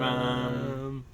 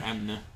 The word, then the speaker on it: Amn: Shadows of Am. Well, it's spelled Amna. But it's not pronounced Amna.